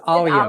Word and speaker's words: Alia: Make sure you pronounce her name correctly. It is Alia.